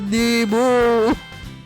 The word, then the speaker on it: Nemo: Ouais, ça se prononce Nemo. C'est exact.